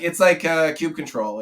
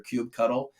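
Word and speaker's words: kubectl: Yeah, it's like kube control. Right? There's two different ways you can pronounce the Kubernetes tool, as kube control or kube cuddle.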